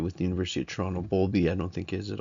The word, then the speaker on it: Bowlby: So Bowlby obviously has a W. If you took the note based on how I said in the last slide, you'd spell it wrong, and that's my fault.